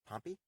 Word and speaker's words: Pompey: just left pompey center now this is that's poppy spelled p-o-m-p-e-y probably named after pompeii but it's spelled but it's pronounced poppy pompei is p-o-m-p-e i uh the origins in